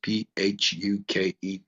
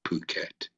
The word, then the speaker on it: Phuket: It's pronounced Phuket. A lot of people would pronounce it starting with the F, but it's actually Phuket.